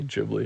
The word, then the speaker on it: Ghibli: Sometimes I say Ghibli, sometimes I say Ghibli. It's just like an interchanging thing.